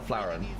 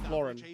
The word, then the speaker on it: Floren: Is it actually What's the pronunciation? Is it Floren or Flen? Floren. Floren. Floren. Okay. Floren, thank you.